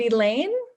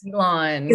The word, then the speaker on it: Elan: And is it Elaine? Hi. Hi, I just want to make sure I was pronouncing your name properly. My name is Elan. Elan, great, okay. Wrong. All the ways that everybody always says is always wrong. Elan.